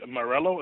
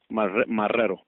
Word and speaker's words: Marrero: Okay, Morello, did I say that right? No, it's Marrero. Right, M-A-R-E-L-O? No, Marrero. Okay, okay, gotcha.